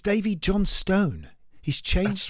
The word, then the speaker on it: Johnstone: uh and it's dve Jonstone he's changed right he's changed the pronunciation since moving to America it's yeah well he's Scottish isn't he yeah but he was Johnston in Scotland and and apparently